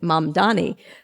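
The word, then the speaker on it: Mamdani: You've got a thing from now, how do we pronounce it? Mam Dani.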